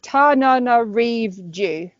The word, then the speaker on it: Tananarive: So I'm going instead for Summer Ghost Stories by, and I have to make sure I pronounce the lady's name right, so I wrote it down. It's Tananarive.